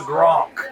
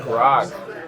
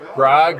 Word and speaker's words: Grog: We got to see you with the Gronk. Yes, the Grog. Grog or Gronk? Grog. Did I say it wrong? Grog. G-R-O-G. Yeah. Grog.